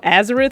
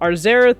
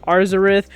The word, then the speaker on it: Arzareth: mistaken in 2020 and i know azerith was the name that was going around for a lot of pronunciations but there is an r in there so arzerath or arzarith either way now this is